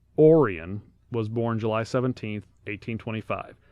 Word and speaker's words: Orion: up now their oldest son spelled Orion but pronounced Orion was born July 17th 1825 he would go on to be quite successful in st.